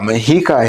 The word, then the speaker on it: Mexica: And whenever we're talking about mikah history, which is spelled like Mexico, really?